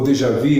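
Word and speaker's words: déjà vu: em todas as famílias aquele Dejavu ou dejavi na pronúncia correta do francês onde você pega que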